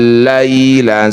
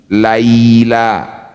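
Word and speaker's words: اللَّيْلَ: Berikan huruf vokal I. Laila bukan e. Laila berarti belum lembut.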